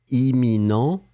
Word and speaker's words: imminent: Souvenez-vous, on ne va pas prononcer les deux M. On va le prononcer comme imminent, éminent A, imminent B.